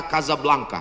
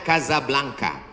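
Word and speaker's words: Casablanca: Hasan dua di Kota Kasablanka Hai ibukota Maroko tempat saya kuliah nama negaranya Maroko ibukotanya tulisannya casablangca cara bacanya Kadzab langka Kaza artinya rumah Blanca artinya putih Kasablanka rumah warna putih bahasa Arabnya ada rolbok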